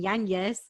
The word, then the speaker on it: Yañez: to last person because of my last name yanis right which i had to teach them how to pronounce because they weren't sure how to pronounce